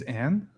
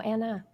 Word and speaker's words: Anna: to find it dude you said Your name's Anne no Anna oh my God he got her name wrong no that's a good